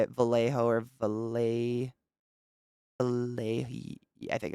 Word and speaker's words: Vallejo: Vallejo is how you say it. Vallejo or Vallejo.